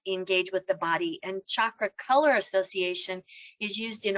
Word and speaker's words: chakra: familiar with this word chakra sometimes people say chakra very soft ch but it's typically pronounced chakra like chocolate because everything's better with